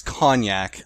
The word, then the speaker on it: Konjak: I've been yeah it's I believe it's cognac like the drink but it's spelled with